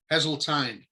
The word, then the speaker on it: Heseltine: Hello, this is Lori Rayfelt, and I'm here with Heseltine. And did I pronounce it right? Heseltine.